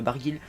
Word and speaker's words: Barguil: il me semble qu'il est breton bargil donc c'est waren et pas waren bargil donc voilà je